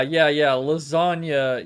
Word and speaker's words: lasagna: Lasagna, yes. Yeah, that makes so much sense. Because the G in lasagna is silent.